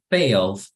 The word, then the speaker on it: failed: Failed. Y aquí ya no pronunciamos la ED, solamente la con D.